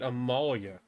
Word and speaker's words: Amalia: things to think about imalia that's how you say it Amalia well okay everybody I'll